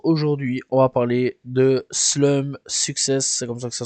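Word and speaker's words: Slump6s: découverte du jour aujourd'hui on va parler de slum success c'est comme ça que ça se prononce donc ça s'écrit slump avec un 6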